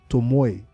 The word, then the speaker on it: Tomoe: Shadow King faction, and you have to always add that Asian intuition into this pronunciation when you say the name. Tomoe.